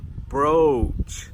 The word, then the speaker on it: brooch: "Brooch", so we get an "O-U" sound "brooch".